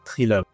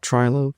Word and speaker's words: Trilobe: It's a Trilobe. Beautiful, very good. Not Trilobe, definitely say it again. Trilobe.